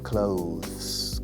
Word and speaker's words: clothes: Yo digo clothes como cerrar. Mucha gente dice clothes, que creo que es más correcto, pero yo toda mi vida clothes.